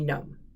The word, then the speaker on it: GNOME: GNU Network Object Model Environment, shortened to be GNOME, G-N-O-M-E, depending on how you want to pronounce it.